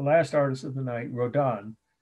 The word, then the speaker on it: Rodin: So here we are, the last artist of the night, Rodin, R-O-D-I-N, or Rodin, as they say in France, they pronounce it that way, R-O-D-I-N, last name.